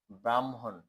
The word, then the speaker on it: ব্রাহ্মণ: হ তারপর হচ্ছে ম কিন্তু উচ্চারণের সময় আগে মর উচ্চারণ হবে পরে হ এর উচ্চারণ হবে যেমন ব্রাহ্মণ তারপর হচ্ছে গ বা